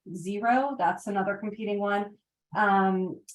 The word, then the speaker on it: Xero: the chocolate chip and there's a program called xero it's uh it's spelled with a z zero that's another competing one um and I think